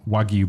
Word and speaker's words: wagyu: Saturday where I did uh steak and some wagyu Burgers is that pronounced right astradam is that right yeah w-a-g-y-u